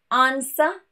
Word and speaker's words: answer: And of course, a few random words to answer, sword, and two.